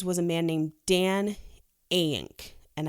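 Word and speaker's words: Eyink: a man named dan aync and i think i'm pronouncing that correctly it's mean yeah e y i n k ink is these he's the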